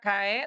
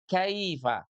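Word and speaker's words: كيف: Nah, tidak kae tapi kaifa.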